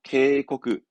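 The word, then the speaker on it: 警告: 케이코크. 케이코크. 그렇죠. 보고. 보고서의 보고.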